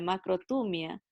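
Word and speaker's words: μακροθυμία: de una palabra griega que se escribe macro tu mía pero nosotros pronunciaremos así la macro tu mía aquí está la macro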